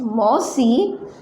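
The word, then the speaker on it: মাসি: Next मौसी, बांग्ला में हो जाएगा मासी। क्या होगा? मासी। श का उच्चारण करना है।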